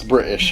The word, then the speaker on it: British: Hey, just because we use a glottal stop instead of a T for most of our middle T's and middle D's.